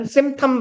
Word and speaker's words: symptom: 또 다른 symptom 무슨 말입니까? 오케이, 증상. P는 묵음이에요.